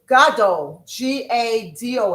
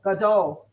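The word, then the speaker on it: גדול: So, big brother is g a d o l. Gado. Big brother.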